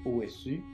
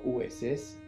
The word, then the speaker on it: Osu: Beaucoup vont l'écrire OSU ou encore OSS. Certains vont le prononcer OS, d'autres OS. Mais d'après mes recherches, c'est correct. C'est correct dans les deux prononciations.